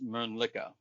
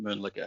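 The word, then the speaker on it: Mölnlycke: Can you pronounce the name of your company because I don't pronounce it correct correctly. Absolutely. It's Mla. It's Swedish. Uh and there's actually a town in Sweden called Municka.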